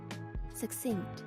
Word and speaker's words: succinct: I know what this word is, but do I know how to pronounce it? No. Looking it up though. Succinct.